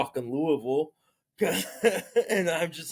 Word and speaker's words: Louisville: dude like uh Sean it's actually pronounced Louisville get